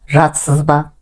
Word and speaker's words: жатырсыз ба: Пишется «жатырсыз ба», но произносится «жатсыз ба».